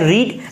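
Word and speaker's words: read: लेकिन जब इसको पढ़ेंगे ना, तो फर्स्ट फॉर्म पढ़ेंगे तब हमें रीड पढ़ना है, लेकिन सेकंड फॉर्म जहाँ पढ़ेंगे वहाँ पे इसको रेड पढ़ना है, और थर्ड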